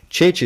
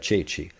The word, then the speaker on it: ceci: Once you remember that ceci exists and that it sounds like this and it's spelled like this, you'd be like, all right, so E and I, or E and E, force C to sound like ch.